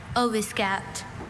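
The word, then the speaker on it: oviscapt: There's no alternate pronunciation, just ovasc. Oscaped.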